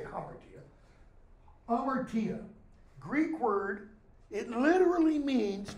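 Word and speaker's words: hamartia: or good play Amer Kia notice I didn't pronounce the Hummer it's okay if you say Humper to you amartia Greek word it literally means to miss the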